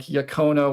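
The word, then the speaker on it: yaqona: Yeah, ka kind of occupies the same head space as a word like yakona y a q o n a as a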